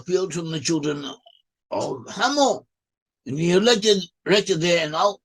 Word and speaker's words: Hamor: In Hebrew it's pronounced as Hamor, in English it's written as Hamor, and Hamor was the father of Shechem.